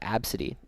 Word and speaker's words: Abcde: fun ones is uh absity spelled abcde e absity.